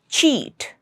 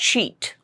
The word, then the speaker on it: cheat: Next word is cheat. Not sheet. It's cheat. Ch.